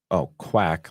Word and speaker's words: Quack: Pronounced, Quack, like Duck Talk.